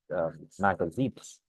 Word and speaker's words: magazines: For example, magazines. The Z, it's Z.